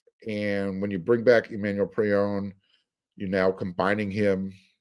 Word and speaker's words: Emmanuel Pregnon: His name is Emmanuel Pregnon. That's the correct pronunciation.